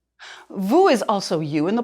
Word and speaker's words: vous: want to show respect it's pronounced with the ooh sound o as in Goose Vu is also you in